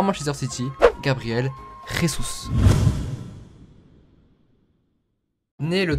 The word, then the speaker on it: Jesus: nouvelle vidéo sur Gabriel Rous alors avant que la vidéo commence on ne dit pas Gabriel Jésus voilà c'est comme les personnes qui disent James Rodriguez ça se prononce rames merci aujourd'hui les mecs